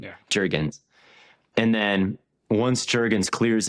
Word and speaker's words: Jurgens: Jurgens, I always say it like it's European. Yeah. Jurgens.